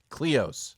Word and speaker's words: Cleos: It's Dios, not didn't Dios. I? It's not Dios, but that's close. It rhymes with the right one. Cleos.